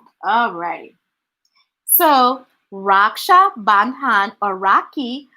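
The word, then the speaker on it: Rakhi: so raksha bandhan or rocky which is pronounced ra ki is an indian festival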